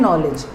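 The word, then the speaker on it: knowledge: ऐसे ही नॉलेज, नॉलेज में भी के साइलेंट होता है तो उसको बोलते हैं, पर उसको प्रोनाउंस करते हैं नॉलेज।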